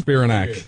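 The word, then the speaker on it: Spiranac: Spirinac.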